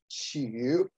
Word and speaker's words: Hsu Yu: the nobel prize to move on to uh shihyu um he lived between 1908 and 1980. he himself pronounced his name shiyu uh the shinhwa siddian and also a number